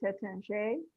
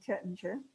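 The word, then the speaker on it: Taittinger: a first and then the Teter AKA teten so I think I've spent too many years saying tettinger and then we're going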